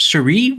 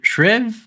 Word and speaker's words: Shreve: How do you pronounce his last name? Is it Shreve or Shriv? Shreve.